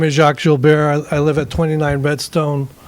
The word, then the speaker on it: Gilbert: so thank you j-a-c-q-u-e-s last name is Jill Bears spelled like Gilbert g-i-l-b-e-r-t hi my name is Jacques jul bear I live at 29